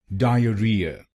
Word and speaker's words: diarrhea: Diarrhea diarrhea. In wrong pronunciation, we put stress on the first syllable diarrhea. So you should not say this word diarrhea. You should say it Diarrhea diarrhea.